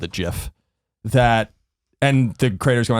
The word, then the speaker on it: GIF: it in the very beginning all called it GIF. And the creators go on and said, it is pronounced GIF.